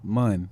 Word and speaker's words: Monroe: Like what- sun and Monroe. Monroe. Yeah. Even though it's spelled M-O-N, it's Yeah.